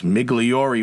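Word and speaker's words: Migliore: their name last week I forgot the e at the end I didn't pronounce it the long way it's migliori which can it considering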